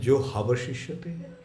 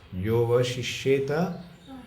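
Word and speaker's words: yo 'vaśiṣyeta: Is it jo avaśiṣyeta? That is lupta ha. Jo vaśiṣyeta, that ha is not pronounced. Yo vaśiṣyeta, so small.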